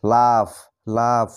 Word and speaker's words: laugh: যেমন একটি শব্দ LAUGH, এখানে শেষে দেখো GH রয়েছে, তাই GH এর উচ্চারণ এখানে ফর মতো হবে, LAUGH, লাফ।